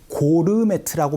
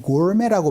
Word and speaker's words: gourmet: 이거를 고르메트라고 발음하지 않고 gourmet라고 발음하니까 알아두시면 좋아요. 연습 한번 해보죠. 갈게요. 시작. I like going on a gourmet tour.